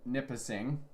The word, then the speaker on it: Nipissing: cochran kenora manitoula nipissing it's nipissing okay don't mispronounce that uh perry sound rainy